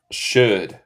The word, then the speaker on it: should: Y nota aquí, en los dos, el L es muda. Could. Could. Es como could. Y should.